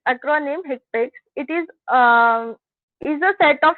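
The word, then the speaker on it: HCPCS: Coding also sorry this one, the Healthcare Common Procedure Coding System, HIPIC, often pronounced by its acronym HIPIC, it is a set of healthcare procedure codes based on the American Medical Association current procedure terminology.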